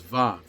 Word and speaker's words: vav: in Germanic languages and in Hebrew it's pronounced more like a V and the name of the letter in Hebrew is VAV therefore the pattern that's